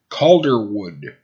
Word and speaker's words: Calderwood: try to say it calderwood I think that's how you pronounce it the reason it throws me off is because whenever and I first look at it I think called what Caldwell and I look away